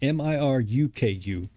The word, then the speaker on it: Miruku: M-I-R-U-K-U. Miruku. Correcting my pronunciation and spelling Apologies for the mistake earlier.